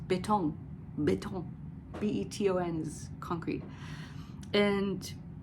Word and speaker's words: Beton: in English it's concrete and in German it's betong betong b-e-t-o-n is concrete and then I read